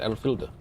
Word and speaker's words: Alfhilda: And so I've listened in on the stream enough to know her name is Alfhilda, and that's how she pronounces it, Alfhilda.